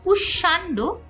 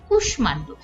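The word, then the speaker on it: কুষ্মাণ্ড: সেগুলোকে ফলো করে না যেমন কুষ্মান্ড এখানে আমাদের হওয়া উচিত কুশান্ড কিন্তু উচ্চারণ হচ্ছে কুষ্মান্ড একইভাবে স্মিত হওয়া উচিত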